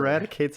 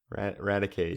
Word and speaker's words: Raticate: So it stems from the English word eradicate, but except it doesn't have the e, so it's just Yeah.